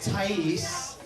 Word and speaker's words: Thays: Her name's a bit tricky, but it's pronounced Thays.